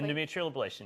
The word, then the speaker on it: endometrial ablation: Endometrial ablation. Am I saying it correctly? Endometrial ablation. Yes, okay. You are.